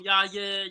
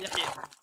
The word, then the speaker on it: Yahya: At the end of the day, I know the Arab way of pronouncing it, and I think that's the right way to pronounce it. You could call him Yaya. You could call him what you want. I'm calling Yahya.